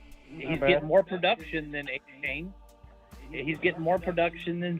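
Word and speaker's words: Achane: I play Swift over A-Chain. A-Chain's got to face a tough Baltimore defense. Who's A-Chain? Number 1 defense. Who's A-Chain? A-Chain. You mean A-Chan? Yeah, exactly. A-Chan. A-Chan, however you want to pronounce it.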